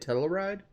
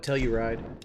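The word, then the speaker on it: Telluride: enjoying the premiere and tell her ride that's how you say it tell a ride does the kia tell a ride i always call it tell you ride be a teleride okay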